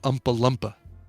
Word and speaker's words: Oompa Loompa: just funny because he kind of pronounces it Umpa Lumpa as opposed to Oompa LPA really so when he's